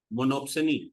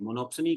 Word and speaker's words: monopsony: मोनोप्सनी में मोनो, जो सोनी है उसका मतलब हो गया, P साइलेंट होगा इसमें, बायर।